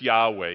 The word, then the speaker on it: Yahweh: much church history but it's Yahweh you know that's actually how you pronounce that word but it's okay to say Jehovah I'm just saying you